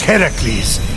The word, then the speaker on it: Heracles: So, Fenyx, after boldly besting the Gorgon that ambushed Heracles...